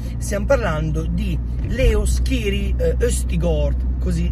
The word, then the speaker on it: Østigård: per il genoa stiamo parlando di leo scheri questi gol così è la pronuncia originale prima però di andare non c'e